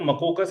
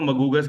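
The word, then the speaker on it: المقوقس: Arabic में इसको मकोकस कहते हैं। और इजिप्शन उसको मगस कहते हैं। काफ को वो गेम की साउंड प्रोनाउंस करते हैं।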